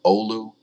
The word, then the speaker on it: Oulu: Finland thanks again for teaching me how to pronounce the word Oh Lu please leave a comment